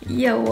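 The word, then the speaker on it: 腋窝: Ye wo (arm pit) Ye wo?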